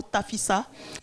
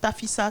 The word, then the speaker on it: Tafissa: Jusque-là, je n'ai pas prononcé le mot tafissa.